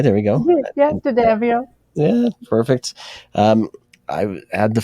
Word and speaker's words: D'Addamio: And I'm thrilled to have D'Addamio. D'Addamio. Yes, I did. Did I say it right? There we go. Yeah, D'Addamio.